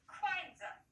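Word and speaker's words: 筷子: Будем произносить как квайдза с четвертым тоном.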